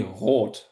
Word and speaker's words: Roth: I would actually prefer if you all say Roth as long as I'm in English context.